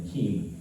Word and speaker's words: Kiem: years later and they they pronounced my last name Keem hey Keem um thanks